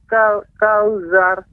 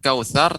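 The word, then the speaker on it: الكوثر: Inna a'tayna kauzar. Ya. Di sini pengucapan ain itu lebih harus lembut lagi. A'tayna, kemudian kautsar tadi terdengar seperti za, kautsar.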